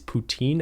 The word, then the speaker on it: poutine: Is poutine as good as I hear it is?